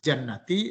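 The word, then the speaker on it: جَنَّة: Kalau baca al-jinnati artinya jin. Manakala dibaca jannati maka artinya adalah kebun atau taman atau surga.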